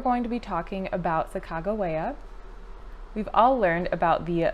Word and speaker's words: Sacagawea: You may have noticed that I'm pronouncing Sacagawea's name a little bit different than what many people are used to, Sacajawea, but um the reason why I'm doing that is just to make sure that I am as historically accurate as possible. Um I looked through a couple of different resources, and the most historically accurate pronunciation they could find was Sacagawea.